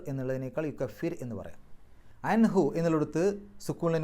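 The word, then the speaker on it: يكفر: യുക്കഫിർ അൻഹു, യുക്കഫിർ, അവിടെ റാഇന് സുക്കൂന് തൊട്ട് മുമ്പുള്ള അക്ഷരം കസ്റാണ്, ശേഷം ഇസ്ലാഹിൻ്റെ അക്ഷരങ്ങൾ വന്നിട്ടില്ല, അതുകൊണ്ട് തന്നെ യുക്കഫിർ എന്ന് പറയാം, യുക്കഫിർ എന്നുള്ളതിനേക്കാൾ യുക്കഫിർ എന്ന് പറയാം.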